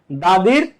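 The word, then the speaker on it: the: তো দাদির সিভি, ঠিক আছে, দাদির সিভি।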